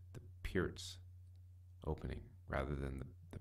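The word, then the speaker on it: Pirc: Looking in the Perk Modern opening, but you know, I understand that the actual opening is supposed to be pronounced the Peart's opening rather than the Perk opening, which is a difficult thing for me because I've been calling it the Perk forever.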